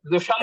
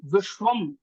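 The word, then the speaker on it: विश्वम्: संकीर्तनैक पितरौ कमलायताक्षौ विशंबरो द्विजवरौ विषम नहीं विश्वम। विश्वम विश्वम विषम तो विश्व हो जाएगा, विश्वम मतलब विश्व को, विश्व का विश्वम भरण करने वाले, ऐसा अर्थ बनेगा ना।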